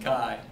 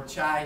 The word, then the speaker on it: chi: pronunciation right it's pronounced Kai that a lot of people mispronounce it as chi-square or chai square but it's the Greek letter Chi like you see on the sides of sorority buildings right so a capital